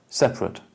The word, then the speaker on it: separate: So what are we doing in the adjective? We do the contraction. How? You take out the schwache. You take out one second. Separate. So you do the elision. So you do a contraction. Elision to air. You take out that syllable. And what else do you do? And then you add a schwa at the end.